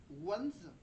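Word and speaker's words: Wanze: Attends, ça se prononce ça se prononce comment en en W c'est W A N Z E mais le A ça se prononce O.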